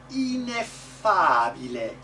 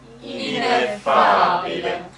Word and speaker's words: ineffabile: The E can be pretty bright. E, not just I, but E. Ineffabile. Ineffabile. And even the unaccented syllables, they have good vowels. Ineffabili, this bile, not bile, bile.